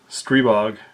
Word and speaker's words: Stribog: or God of force it is pronounced strebog foul consonant vowel first vowel gets its full voice on most words in most languages and I in its full voice is an e sound in the rest of